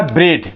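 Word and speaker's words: bread: देखें इसको मैंने लिखा ब्रेड बी आर ई ए डी ब्रेड ब्रे ब्रेड लिखा हुआ य ब्रेड लिखा हुआ है यानी अ इसमें साइलेंट है क्लियर वैसे ही देखिए यहां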